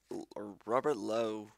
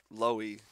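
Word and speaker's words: Lowie: Melville hercowitz Alfred crober Robert Loy Robert low Loy you that's how you say it Margaret me Paul Raiden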